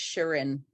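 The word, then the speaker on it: Shirin: Sheeran Sharon sh yeah it's pronounced Sharon s-h-i-r-i-n she says I handle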